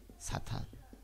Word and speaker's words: 사탄: 그래서 옛날 발음은 샤탄입니다. 히브리어 발음은 샤탄입니다. 그래서 그거를 그대로 영어에서 쓰고 그대로 한글로 가져왔습니다.